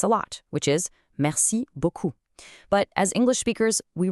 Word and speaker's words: beaucoup: A tiny, slight mispronunciation of the "ou" sound at the end turns "beaucoup" into "beau cul".